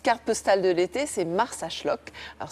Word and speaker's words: Marsaxlokk: Et puis, ma petite carte postale de l'été, c'est Marsaxlokk. Alors, c'est un nom impossible à écrire, mais ça se prononce comme ça. On sait mieux, pour une fois, le prononcer que de l'écrire.